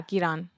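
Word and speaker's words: Giran: Because he explains, it's so perfect, because it's a flashback where he's explaining to, is it Giron? Is that how you say it? Yeah, Giron.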